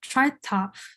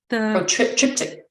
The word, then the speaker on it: triptych: Especially I'm always gonna mispronounce this form wrong. The tritop, Triptych.